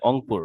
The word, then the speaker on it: রংপুর: আমার এক রংপুর আচ্ছা রংপুরে কি রকে অ উচ্চারণ করে অংপুর রাইট জি স্যার